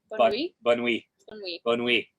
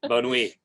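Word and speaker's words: Bonnieux: Bonui. Yeah. There's an X in it, okay, at the end. Bonui.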